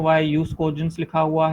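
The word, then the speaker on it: jus cogens: जो proper pronunciation है उसकी वो यूज कोजेंस ही होती है।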